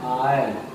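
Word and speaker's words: oil: आज तक जो ये शब्द है ओ आई एल, आपने बहुत कम लोगों को सही प्रोनाउंसिएशन करते हुए देखा होगा, क्योंकि इसका शुद्ध उच्चारण होता है आयल। लोग बॉयल बोल देते हैं, वायल बोल देते हैं, लेकिन शुद्ध प्रोनाउंसिएशन इसका होता है आयल।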